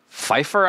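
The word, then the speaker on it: Feiffer: illustrations are by jwes Fifer I think is how you say it f e i FF e r yeah that's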